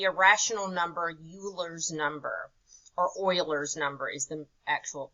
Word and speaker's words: Euler: is called the irrational number Euler's number or Euler's number is the actual pronunciation and they represent that with an e